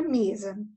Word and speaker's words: mesa: Agora, na palavra mesa. Mesa. Tá vendo que eu pronuncio me mais forte? Então, ela é a sílaba tônica, certo?